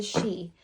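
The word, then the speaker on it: Sidhe: the tarot of the she an incredible deck um she is not spelled like you would think Tara of the she it's got this cool spelling on it s-i-d-h-e but it represents these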